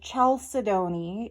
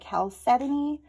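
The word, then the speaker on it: chalcedony: I found out that what I've always called chelidon is actually supposed to be called caleton and now I don't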